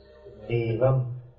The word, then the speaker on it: evam: Evam, here the sound is short.